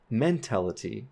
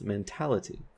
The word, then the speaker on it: mentality: So the word mental, men is the primarily stressed syllable, so mental, and mentality, we have the stress on tal, so mentality, and not mentality, it's mentality.